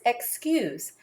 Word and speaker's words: excuse: The U in cues is long. So the word is excuse.